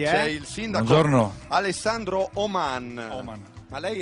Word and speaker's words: Oman: È l'accento che cambia, non devo dire Oman, ma Oman.